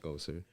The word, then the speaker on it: EKOSR: it used to be Echoes, but I added the R for get a little fancy. There you go. It's EKOSR.